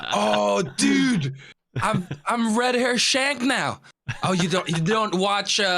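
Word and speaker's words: Shanks: Red Hair Shang? No. I'm pretty sure it's spelled as SHANK.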